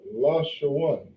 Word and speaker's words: Lashawan: So this word right here, okay, written in the Hebrew is Lashawan. Okay, Lashawan in English means language.